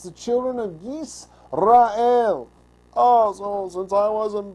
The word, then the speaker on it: Yisrael: Yis, not yes. I know I do that all the time. Yisrael, that's how you say it.